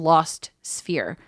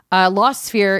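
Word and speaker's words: Lost Sphear: so Brittany you played about 15 minutes of lost sphere that's a th ei R law said be ER e AR it's spelt SP h EA R that's weird yeah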